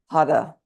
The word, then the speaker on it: Har: H-A-R, but it's pronounced Hara. If you can roll your tongue, that's the goal, but that seems to elude me.